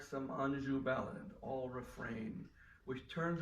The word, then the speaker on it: Anjou: in the quintessentially Kleinian wordplay on Anjou, which he clearly pronounces Anjou.